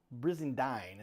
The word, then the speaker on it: Brizendine: Louis, Casey I'm going to say this right, Brizendine is the right way to say it.